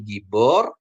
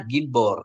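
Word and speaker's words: גִּבּוֹר: ya Ah ini gibor kenapa jadi gibor perhatiin ini karena dia ada dages di sini ada strong dages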